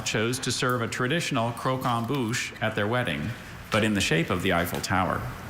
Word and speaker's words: croquembouche: Croquembouche. Okay, please have all the information. Croquembouche is the only pronunciation I see.